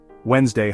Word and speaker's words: Wednesday: Wednesday hides a silent D in the middle.